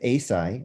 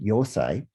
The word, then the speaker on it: Eisai: Not until several centuries later, with Eisai, also sometimes pronounced Yosai, who was a Zen monk who also went to China and brought back tea.